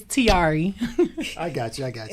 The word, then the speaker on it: Tarie: fashion models we're talking tre she is the new face and spokes lady for bear skin usa i love the way you say my name real hey it's not right guys it's tiari i got you i